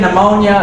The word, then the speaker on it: pneumonia: You got the silent P in pneumonia, a silent K and Turk, a silent E and Jacuzzi.